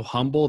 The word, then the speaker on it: Humble: And I'm joined by Pastor Kort Marley from Providence Church in, it's spelled Humble, Texas, but because Texans are so humble, they call it Humble.